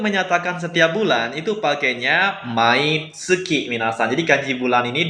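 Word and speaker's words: 毎月: Selanjutnya, untuk menyatakan setiap bulan, itu pakainya mai tsuki minasan. Jadi kanji bulan ini dibacanya tsuki.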